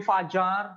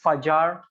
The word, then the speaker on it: Fajar: So you can call me Fajar. So in my country, the J is pronounced as J like in English, so it's Fajar for short.